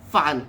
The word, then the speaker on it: fàn: Fan is spelled F-A-N, but it's not fan, it's fun. Fun as in fun.